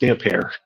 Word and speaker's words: Damphair: One of the things that's nice about George reading the chapter is that he knows that it's pronounced Damphair.